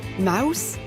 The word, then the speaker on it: Maus: de 1980 à 1991 mouse M a u s cela veut dire souris en allemand en anglais même si cela s'écrit différemment souris se prononce aussi Spelman reprend les codes